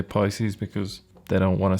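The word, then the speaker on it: piscis: the page as well it's pronounced piscus isn't it because it's Roman it's Latin but I guess most people say Pisces because they don't want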